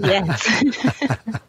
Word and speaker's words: Hales: Hales, not Hayes, as Andy might spell it, right? You got it right. Hales.